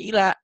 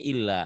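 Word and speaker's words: إلا: Harusnya illa dibacanya ila dibacanya illa. Padahal itu artinya jauh. Illa kecuali, ila kepada.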